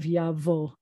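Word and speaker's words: יבוא: hood with an ah that's the vet there's no ball or belly button in there with an o dot and that's a silent olive so we have yavo yavo means he will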